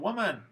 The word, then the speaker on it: woman: is man m-a-n and in woman we have the same spelling so you might think it's pronounced the same way but because of schwa it's not this is man this